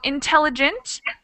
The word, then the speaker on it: intelligent: mean similar things and the stress of the word is similar the stress is on the second syllable but you just use